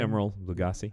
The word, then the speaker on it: Emeril Lagasse: Emeril Lagasse.